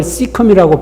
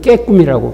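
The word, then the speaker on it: cecum: 맹장을 시컴이라고 발음해야 됐는데 저는 깨꿈이라고 발음. 그랬으니까 통할 수가 없는 거예요.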